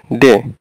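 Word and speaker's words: De: তারপরে ডে, ডে বললে হবে না, ডে যেমন আপনি এখানে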